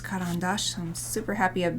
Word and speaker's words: Caran d'Ache: It is pronounced Caran d'Ache, so I'm super happy I've been pronouncing it right.